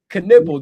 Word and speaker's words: Knueppel: Knueppel. Just think about nipple and then put a crazy. You know what I'm saying? That's got to be my correlation. Nipple and Knueppel.